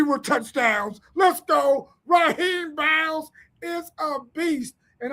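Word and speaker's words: Rasheem: Man, his mama said the S is silent. His name is Raheem Biles.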